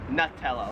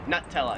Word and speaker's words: Nutella: Nella this yummy stuff Americans like me pronounce this new like it's new new here in Australia they pron it Nutella like a nut yeah Nutella okay I have to